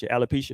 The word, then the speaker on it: alopecia: who suffers from alep how do you say this alopecia is how you say it yeah that like it